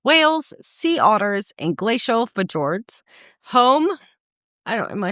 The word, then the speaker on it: fjord: sea otters, and glacial fjords. Home, am I saying that wrong? Very. What? How do you say it? It's Scandinavian. Fjords. Fjords. Okay. You just offended Norway. Fjords.